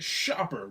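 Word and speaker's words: Schaper: All righty then, The Last Straw, the camel game from Shaper, pronounced Shopper.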